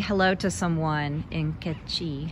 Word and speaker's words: Q'eqchi': It's called Q'eqchi in my accent, but it would be Q'eqchi in Spanish accent.